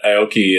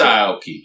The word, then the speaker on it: Aoki: It's entertainment, pure entertainment, but I also really like that Aoki is, you say like Aoki or, I say Aoki. It's Aoki.